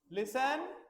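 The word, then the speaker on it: listen: नहीं बोला जाता बेटा एल आई एस टीई एन लेकिन हम बोलते कैसे हैं लिसन क्या बोलते हैं लिसन लिसन होता है सुनना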